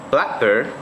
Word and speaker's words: blackbird: We have blackbird, because the stress is on the first part or the first syllable.